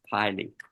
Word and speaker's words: pili: We don't worry about the difference between fimbriae and, this is pronounced pili. Fimbriae and pili.